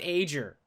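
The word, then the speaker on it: Aegir: it's I know but there's a G in there should be pronounced ager I we we are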